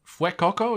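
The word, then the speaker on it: Fuecoco: that you and I have both landed on fuekoko is that how you pronounce it properly yeah Coco yeah Fuego he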